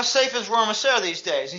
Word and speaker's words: Rohrmoser: It's a German name. Rohrmoser. Rohrmoser. They just call Rohrmoser. They don't pronounce it right. They don't say Rohrmoser. They say Rohrmoser.